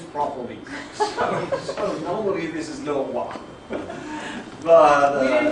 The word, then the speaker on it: le roi: So just for the students, so it's that guy who's spelled like Leroy. Leroy, do you remember if you remember that from class?